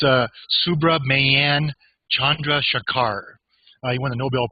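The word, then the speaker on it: Chandrasekhar: Chandra Chandra sakar shakar okay thank you fabulous Chandra sekhar yeah Sidecar somebody should type it in the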